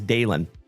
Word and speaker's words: Dalen: So, like I said, folks, if you are new here, my name is Dalen. D-A-L-E-N, like Dale plus N.